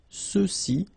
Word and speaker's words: ceux-ci: Okay, remember final X is not pronounced, so you get the sound ce, ceux-ci, and then ceux-là.